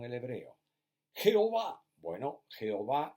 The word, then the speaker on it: Jehová: hebreo pero a bueno jehová es porque la jota en castellano antiguo se leía como y de ahí que cuando